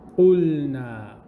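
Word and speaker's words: قلنا: say unknown right but because it's a verb we're going to pronounce it clearly like the second example that he gives in the line of poetry he says ulna ulna which means we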